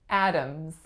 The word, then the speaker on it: Adams: we have Adams Adams this one's actually a little bit trickier than it looks so the first sound is the winner and it makes the sound ah the second syllable ohms is schwa em Z but what about that D does it make a D sound when I say Adams Adams mm-hmm it's actually a flap so I don't